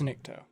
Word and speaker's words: Nikto: might be pronouncing that Niktos. incorrectly. Yeah. Does it end with a U or an O? It ends with an O. I think it's Nikto.